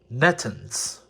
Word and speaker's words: Nethuns: He told me that it is apparently they're French, and it is Nethuns.